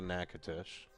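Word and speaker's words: Natchitoches: Nacadesh. There it is. Nacatish. Nacates. Nacitish. Okay. So, we're going to pull out a Nacatish according to Google Google lady.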